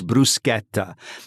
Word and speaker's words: bruschetta: If you want to pronounce it the correct way, it is bruschetta.